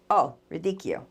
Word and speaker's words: Verdicchio: Oh, Verdicchio. Yeah. According to the Google thing, it says double C's pronounced K, but I thought it was like Verdicchio.